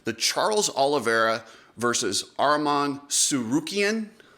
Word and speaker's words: Tsarukyan: Charles Olivera versus Arman suian I think that's how you say it suian uh somebody spelled it out phenetically I think that's how it goes that was a great